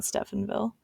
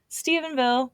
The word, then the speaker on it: Stephenville: of the the Stevenville you know how Steven can sometimes be spelled with a pH like Stefan yeah well every time I see it I want to say Stephenville Stephenville it's not Stephenville Stevenville police sent some of